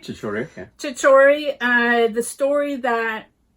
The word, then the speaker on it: Chhichhore: of the actual college where Chhichhore, am I pronouncing that correctly? Chhichhore, yeah.